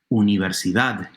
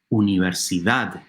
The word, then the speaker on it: universidad: In Spanish, however, the stressed syllable is the very last one, universidad. Hear it? Universidad. The last syllable is stressed.